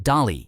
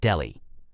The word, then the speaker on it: Dali: And just to clarify, it's pronounced Dali and not Delhi.